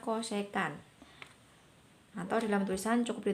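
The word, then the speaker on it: cosecant: perkalian kalau ada tulisan CSC itu bacanya cosecan Hai Atur jam tusan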